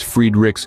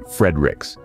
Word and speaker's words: Friedreich: Pronounced as Friedreich's ataxia, its name can be quite a mouthful. Some people even prefer the French pronunciation Friedreich's, but for the sake